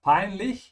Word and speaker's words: peinlich: So embarrassing is peinlich. Keep your mouth open at the end of peinlich. Yeah, that's the CH sound.